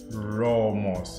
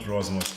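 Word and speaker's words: Romoss: only realized it today most of my batteries actually Romo's okay I tend to get this name wrong but it's wrong most not Rosner so this is a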